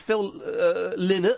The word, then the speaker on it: Phil Lynott: A wonderful image of Phil Lynott, I believe it's pronounced, with poo on his pants.